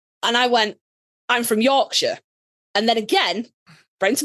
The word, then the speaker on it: Yorkshire: You don't pronounce it Shire. It's not Middle Earth. It's sh. Yorkshire. Right. And also, you don't need to elongate that O. It Yorkshire.